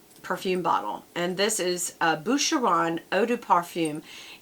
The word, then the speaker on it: Boucheron: And this is a 3.4 ounce perfume bottle, and this is Boucheron Eau de Parfum. It's B-O-U-C-H-E-R-O-N. It sounds like Buchanan, only it's Boucheron. I don't know. I think I'm pronouncing it right.